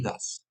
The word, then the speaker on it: does: Escribe do y does, pero se pronuncia do y das.